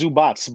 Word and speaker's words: Zubac: It's Zubats, but we say Zubac, whatever.